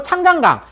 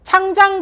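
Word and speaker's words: 长江: 더 많이 할 텐데 중국 사람들이 이걸 장강이라고 합니다 장강 요걸 한자로 하면 이제 중국식 발음하면 창장이 된다고 하네요 그래서 이걸 창장강이라고 하는데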